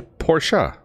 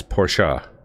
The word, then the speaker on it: Porsche: German people say it it's actually Porsche well you when you pronounce a lot of German words from what I understand you don't make any of the vowels at the end silent though it you ask any German or early any true car enthusiast they will tell you that the pronunciation of that brand is Porsche so it's a it's a two two syllable word it's entering the event